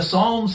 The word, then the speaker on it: psalms: by the psalms and the psalms has a silent p what what is that